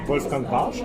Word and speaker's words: Wolfgang Warsch: If you really pronounce it like in German, as we do, it's like Wolfgang Warsch. Wolfgang Warsch. Most of the time, people say Wolfgang Warsch, so it's quite close.